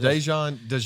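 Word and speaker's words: Daijun: DeJuan. Never. For the past 4 years. Since 2020. I've heard Dejon is what I'm going with.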